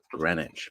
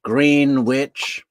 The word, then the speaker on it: Greenwich: r e e n w c but it's pronounced grenwich but jod Aras always says green witch she's the green witch um but that text was sent a little before 6 p.m.